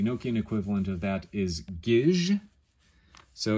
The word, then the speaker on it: Gisg: And then finally, we get to the letter T in English, and the Enochian equivalent of that is gij. So it's spelled G-I-S-G.